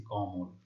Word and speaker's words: কমল: তো যেহেতু আমরা এখানে ল এর সাথে যে অ রয়েছে সেটা উচ্চারণ করছি না, সেই জন্য হসন্ত দিচ্ছি কমল। কানন, ঠিক আছে?